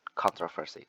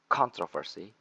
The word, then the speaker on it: controversy: So the stress placement change. The first one at the first syllable, the controversy, and the second one is at the second syllable, controversy. So the first one at con and the second one at tro.